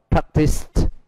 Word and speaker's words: practiced: Còn practiced chỉ được phát âm là T, bởi vì nó kết thúc bằng âm S.